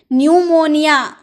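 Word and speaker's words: pneumonia: P silent रहता है अगर आपके एंड तथा एस के पहले अगर पी आपको देखने को मिला तो पी साइलेंट रहता है जैसे पी एन आई यू एम ओ एन आई ए न्यू मोनिया कहते हैं निमोनिया यानी की निमोनिया जो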